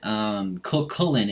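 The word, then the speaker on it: Cú Chulainn: this patch that we got a new god Coquelin is how you pronounce it he's the hound of ulster he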